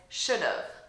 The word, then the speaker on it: should've: 1 as a contraction, I still change the pronunciation of this to make it shorter.